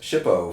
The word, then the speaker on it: SHPO: The department directed the states to create state historic preservation offices, often pronounced SHPO for short.